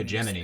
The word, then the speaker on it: hegemony: that the Japanese would fall prey to next, and that would like hurt American Hegemony. interests. I guess it is pronounced hegemony significantly.